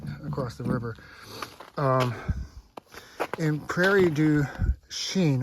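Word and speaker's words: Prairie du Chien: the river um in Prairie Du Sheen that's how you pronounce it PR Deen let's see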